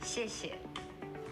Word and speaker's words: 谢谢: 谢谢. 谢谢. 谢谢. 谢谢. And It's spelled XIE, XIE, but it's 谢谢.